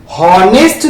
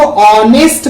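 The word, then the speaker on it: honest: तो हम हॉनेस्ट तो पढ़ते हैं, हम इसको ऑनेस्ट पढ़ते हैं, यानी एच हम पढ़ते ही नहीं हैं, ठीक है, लिखते हैं लेकिन इसको पढ़ते नहीं हम।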